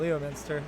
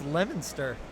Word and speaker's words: Leominster: I've always called it Leominster, but it's Leominster. But they have an awesome web. It's not spelled that way, I know.